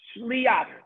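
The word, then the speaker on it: שליח: Okay, a shin with a shva is shech. A lamed with a dot under the chirik li, and then a ches with a patach shliach.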